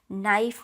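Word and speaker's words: knife: word आता है एंड नाइफ में जो है वो भी के साइलेंट वर्ड है नाइट में जो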